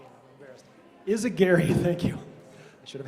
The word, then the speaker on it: Izaguirre: we have uh and I forgot the pronunciation of your last name I'm embarrassed is aary thank you I should have had that known